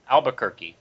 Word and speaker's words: Albuquerque: vampire um Raphael Albuquerque Albuquerque okay yes that that's what everyone pronounces his name Albuquerque so if you're ever